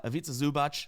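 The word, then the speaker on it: Ivica Zubac: been crushing it uh aita zubach I can say his name now shout out to Brett who helped me a long long time ago I'll never forget that because it rhymes with pizza uh he's been crushing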